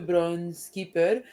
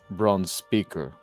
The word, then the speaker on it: Bronze Speaker: Bronze speaker, not keeper.